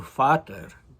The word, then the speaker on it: Vater: So, Vater, German, he spells it v a t e r um instead of it would be pronounced in German with an f sound instead of a v sound.